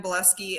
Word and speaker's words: Bileski: i'm the only buleski out there so google boleski um and it's spelled bile as in like and ski so like your spot ski bielski yeah um so